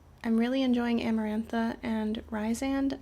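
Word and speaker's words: Rhysand: So, I'm really enjoying Amarantha and Ryzand. I know that most people say Reand or Rezand, but I actually heard someone pronounce it the way that I do recently and that felt very like not brush off.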